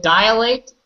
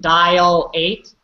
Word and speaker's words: dilate: But usually, like with dilate, we can pronounce like dial-ate. But it's wrong to pronounce it. But you kind of hear that. You have to say it fast. Dilate. Sounds like a dial, like from a telephone, but it's not.